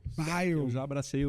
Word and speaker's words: Beil: Fala pra mim, como é que pronuncia de direito esse teu nome, hein? É Bale. Bale.